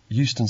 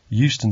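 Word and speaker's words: Euston: yes it's Steve Smith of 31 Green Road Houston Center London nw14 sorry I didn't catch the address could you repeat it yes it's 31 Green Road Houston Center I'll spell it e u s t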